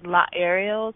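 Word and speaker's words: Laaerial: My name, again, is La Ariel, so it's spelled L-A-A-E-R-I-A-L. Just think Ariel, like an aerial view, but with a law in front.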